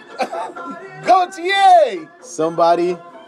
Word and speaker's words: Gotye: Gotye!